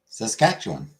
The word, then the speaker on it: Saskatchewan: Sass, cat, chew, on. Saskatchewan.